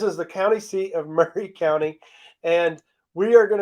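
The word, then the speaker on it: Maury: it so in this case Mari m-a-u-r-y is pronounced Murray kind of like there's a city here in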